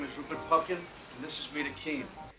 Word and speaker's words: Rupert Pupkin: want to tell you jerry my name is rupert pumpkin thanks mr pumpkin don't mess up rupert rupert